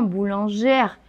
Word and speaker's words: boulangère: des problèmes par exemple boulanger là si on prononce le r ça devient le féminin boulangère pareil que ouvriers ouvrière